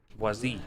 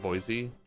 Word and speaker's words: Boise: Boazi. How do you pronounce that, boys? Dude, off. It's just Boise.